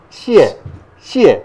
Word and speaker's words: 謝謝: なんだけどこれあのシエシえって読むはいどうぞシエシエはいそうそうそう